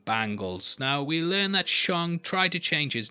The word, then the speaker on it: Shang: james bundy there's also shong taking part in the fighting tournament and also yeah i know i'm pronouncing it shong but that's actually what kevin feige said recently so stop writing